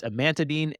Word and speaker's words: amantadine: not even G to say it right adamine amantadine is that sorry that's the medication right I was trying to think of the it's amantadine and Radine which are in the adamantine derivative